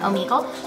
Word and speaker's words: Omegle: Is that how you pronounce it? Yeah, Omegle.